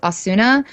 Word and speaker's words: Asuna: in english everyone says asuna but i believe it's ozna like the u is almost silent do you watch that